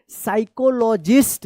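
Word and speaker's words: psychologist: यह P silent वाला है। साइकोलॉजिस्ट।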